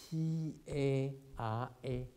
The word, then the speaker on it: Tara: T-A-R-A.